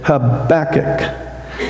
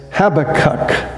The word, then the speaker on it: Habakkuk: sometimes hear people say habac or they say something else you know it's kind of hard to pronounce but when you say the title of this book think of your back habac that that's how